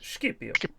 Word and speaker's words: Scipio: No, with the hard C, but the sh sound. Scipio.